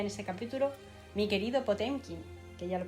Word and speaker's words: Potemkin: Mi querido Potemkin, que ya lo pronuncia Potemkin.